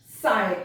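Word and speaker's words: sigh: माइट, साय, इसको भी जी एच नहीं प्रोनाउंस किया, साय।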